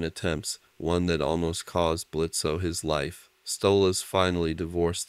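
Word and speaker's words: Blitzø: this stuff shall we blitzo the O is silent thank you very much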